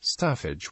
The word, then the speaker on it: Staffage: In painting, Stafage pronounced his in French are the human and animal